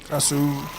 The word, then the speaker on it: Krasue: But yeah, you don't pronounce the E. Kasu, something like that.